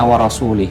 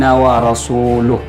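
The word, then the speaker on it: وَرَسُولُهُ: Innallaha bari'um minal musyrikin wa rasuluh. Jadi rasuluh didomahkan, dirafa dengan domah.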